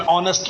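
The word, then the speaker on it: honest: Before words beginning with silent H. कुछ words जैसे जिसमें साइलेंट एच होता है, जैसे एन आर, N honourable man, एन एयर, एन ऑनेस्ट मैन. तो ऑनेस्ट, एयर, ऑनरेबल, आर, ये वर्ड्स ऐसे जिनके सामने एच तो आता है लेकिन ये साउंड साइलेंट होता है.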